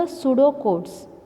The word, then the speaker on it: pseudocode: So similarly, there are disadvantages, and then we studied about the pseudocodes. PSEUDO, pseudo. It is pronounced as pseudocode.